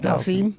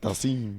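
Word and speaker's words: Dhalsim: Dalasim? Yep. Dalsim.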